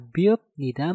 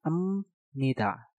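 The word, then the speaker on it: 입니다: Nah, untuk kata subnida dan juga biopnida ini, cara pengucapannya adalah kalian harus merubah biop menjadi suara miem. Yang tadinya subnida menjadi semnida. Yang tadinya biopnida menjadi emnida.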